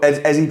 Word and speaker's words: Ezi: What, Ezi Property Solutions? Yeah. Your name's Ezekiel, so... Yeah. So it's pronounced like easy property solution, as in I want to create an easy solution to a landlord's problem.